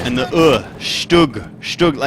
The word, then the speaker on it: StuG: and the Stug. Stug, like book. It should rhyme with book.